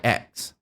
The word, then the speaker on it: IX: be referring to the Eon of nahil as ex now the path of nil is led by